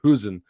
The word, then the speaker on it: Huijsen: our Dutch listers and they said Hen is the way to pronounce it even though he's of course a Spanish international but he has got that Dutch heritage.